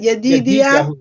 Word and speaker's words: Yedidia: Yedid, yeah, pronounce it Yedidia.